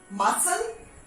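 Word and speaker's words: muscle: तो सी after S जब भी सी का यूज होता है तो वहां पे सी साइलेंट होता है. मसल, scissor, scenario.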